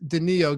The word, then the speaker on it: Danilo: I guess it is Denis oh it is Danilo Gallinari but I hear Danilo Gallinari all the